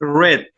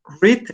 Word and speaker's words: read: It doesn't change in the way we wrote it, but it changes in pronunciation. Is read, and when it comes in past, it's read. Read and read, okay?